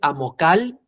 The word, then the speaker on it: amocal: Amocal. Pronuncia fuerte en la de en medio, no al final. En vez de decir amocal, di amocal.